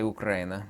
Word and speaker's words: Ukraina: funding for uh ukraina I like to say ukraina cuz how it's pronounced not English obviously um then Russia runs